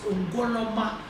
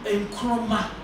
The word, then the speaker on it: Nkrumah: early head teacher was a Fantin who could not pronounce Ngoloma, the Nzema word, and so he anglicized or fantilized it to read Nkrumah.